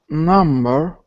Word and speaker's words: numb: Number, I mean, when they use the medicine when they want you to not feel the pain is numb. Numb, exactly, numb. Okay, without the B.